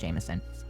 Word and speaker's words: JMSN: This artist is called Jameson. Again, JMSN, pronounced Jameson.